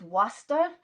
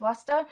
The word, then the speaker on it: Waspister: So you get Westness combining with Waster, or as it's written Waspister, but pronounced Waster, and Frotet and Ainhallow,